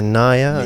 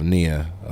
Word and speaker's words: Nia: Actually, how do you pronounce Nia or Naya? Nia.